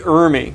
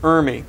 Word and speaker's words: Ermey: press luncheon for Lee iry it looks like it's spelled Emory but it's iry he's a fellow from